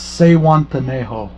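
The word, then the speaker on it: Zihuatanejo: Miss Lisa Loves, I told you how to say it in my comments on your video, but it's Sehuantanejo.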